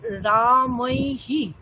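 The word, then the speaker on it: রামৈঃ: কিন্তু রামৈহ নয় রামৈহি, বিসর্গের আগে যে বর্ণ আছে সেটার সাথে আমরা বিসর্গ মানে হকারের সাথে সেই স্বরবর্ণ লাগাই।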